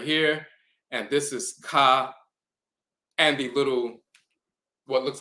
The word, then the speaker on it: Ka: hieroglyph for the term Ka now it can be spelled with the bowl which is the cut sound and the uh eagle with the ah sound but then you'll also